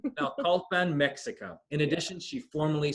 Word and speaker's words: Naucalpan: Can you pronounce this for me, Stephanie? Naucalpan. Naucalpan, Mexico.